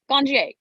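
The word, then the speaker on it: Ganjier: a n j i e r ganja sommelier gongie that's it um if and i know this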